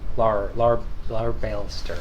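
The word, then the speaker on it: Larbalestier: Leibeister? I forget how to pronounce his name. Larbalster.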